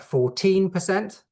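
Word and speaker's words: fourteen: Also notice that many learners have problems with differentiating numbers like 14% with your stress on the second syllable.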